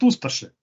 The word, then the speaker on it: Ustaše: Well, I would pronounce it Ustaše, but I don't Ustaše. think it will work. Ustaše, it's a Serbo-Croatian word. It's not supposed to be pronounced easily. It's supposed to be difficult.